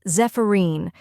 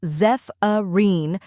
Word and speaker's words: Zephyrine: The correct pronunciation is Zephyrine or Zephyrin. Let's break it down. First we have ZEF, which sounds like Zeph in Zephyr. Next is a short, unstressed vowel sound like the A in sofa.